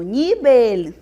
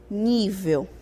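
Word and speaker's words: nivel: álcool e não álcool eu tenho nibel e não nível e eu tenho oxígeno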